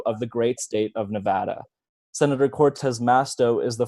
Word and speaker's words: Nevada: in Reno in the great great state of Nevada yup that's how we pronounce it here where I was proudly born